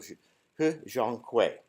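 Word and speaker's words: 贺建奎: I say that carefully because there are a lot of different pronunciations for his name, but I went to Chinese TV and listened in. So He Zhonghui.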